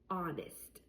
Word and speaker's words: honest: a word, for example, honest. Honest. I don't say the H sound, right?